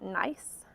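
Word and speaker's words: gneiss: rocks so this is a rock called nice which is spelled not how it sounds G and E is s and it's a metamorphic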